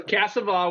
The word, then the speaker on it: Cassavaugh: Cassavaugh or Cassavaugh or is it like There's Van no O in Gogh? it, so Cassavaugh was good. It's Cassa. pronounced Casanova with no no.